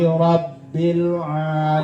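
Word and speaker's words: رب: Alhamdulillahi rabbil alamin. Di mana tuh tasdidnya? Lam. Ya. Di atas huruf lam, lamul jalalah. Yang keduanya di atas huruf ba. Ya, di atas huruf ba. Ditekan tuh bacanya.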